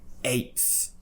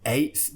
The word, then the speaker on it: eighth: We're talking about this one, eighth. Again, with eighth, there's a T before the TH, but we're not going to pronounce it.